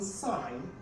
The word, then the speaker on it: sign: it's another consonant sound now in sign the letter g is a silence it's a silence letter and also in fail